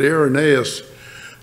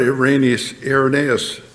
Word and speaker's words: Irenaeus: Anyway, here's what Irenaeus, I used to call Irenaeus Irenaeus, and some people do, but I hear scholars say Irenaeus is the proper pronunciation.